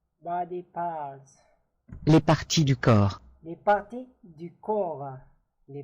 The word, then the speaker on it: corps: Les parties du corps. Les parties du corps. Les parties du corps. P is silent here.